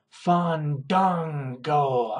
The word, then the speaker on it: Fandango: Chris Jericho versus Fandango.